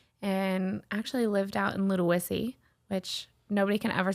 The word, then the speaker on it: Ludowici: everyone used to cause oh you live in little wussy I'm like no no it's it's Ludo whissy so what l-u-d-i or